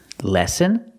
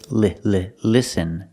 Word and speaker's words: listen: Lesson? I think he means listen. The word is pronounced with the short I sound like this is. Listen. Make the sound listen. Not lesson.